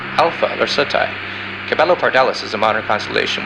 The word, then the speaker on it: Alpha Lacertae: Its brightest star is pronounced Alpha Lacertae.